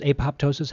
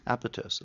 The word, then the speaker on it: apoptosis: far as this uh it's not pronounced apoptosis how do you pronounce it apotosis osis so do they also